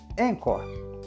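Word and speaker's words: Anchor: aqui Vale lembrar que encor se escreve a n c h o r encor o jeito mais fácil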